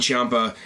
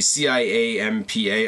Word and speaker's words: Ciampa: The C-I-A-M-P-A, I'm assuming, is Ciampa, because that's how the announcers say it.